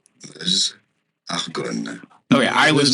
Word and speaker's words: Meuse: that's your French pronunciation here. Meuse, Argonne.